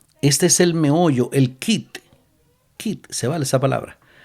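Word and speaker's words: quid: Kit es Q de de Q de queso. Q u y d kit. Así se se escribe.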